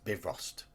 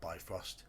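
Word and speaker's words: Bifröst: veering off beer Frost yes it's bivrost it's not by Frost bath for us Bridge it's not be frost it's the pronunciation don't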